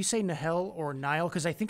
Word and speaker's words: Nahel: And eventually the canonization can change that over time, even my pronunciations and things like that. So I say Nahel.